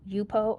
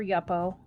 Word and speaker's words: Yupo: be using today and i've got yupo or yuppo i've heard it pronounced both ways paper and really it's